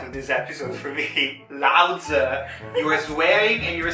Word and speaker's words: 老子: 老子 actually, that's how we pronounce it. 老子 with the light, there's no tone to the 子.